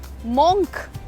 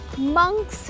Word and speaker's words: monk: The word is MONK, monk। So monastery भी नहीं होता है, मोनेस्ट्री में मंक्स रहते हैं। MONK इज मंक, नॉट monk।